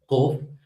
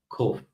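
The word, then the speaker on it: קוף: So it's again pronounced a little toward the back, Kof. But modern Israelis will pronounce it as Kof, exactly the same as Kaf, right?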